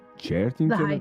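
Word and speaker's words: Chearting-ton: t i n g hyphen t o n charington charington charington The Hyphen is important if you spell it without the The Hyphen you actually end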